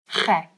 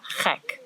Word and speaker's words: gek: And gek is also a bit of a gek word to know because it's like the ch sound and the ek, which means me. So it's like you're saying you are gek, but you're not really.